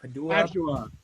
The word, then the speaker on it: Padua: Padua.